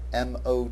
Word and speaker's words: mot: word motet comes from the French word Mo m o t but pronounced Mo and mo means word now it